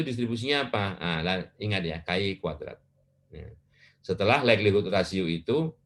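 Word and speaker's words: chi-kuadrat: ya, distribusi dari ini adalah Ki kuadrat. Pembacanya Ki kuadrat.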